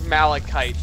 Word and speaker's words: malachite: tethers Brian if you need some it is malachite by the way I just looked up the proper pronunciation okay so we were right then okay